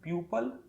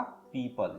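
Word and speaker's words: people: पीपल का उच्चारण लोग प्यूपल या प्यूपिल कर देते हैं, जो कि सही नहीं है, बल्कि हमें बोलना पड़ेगा पीपल।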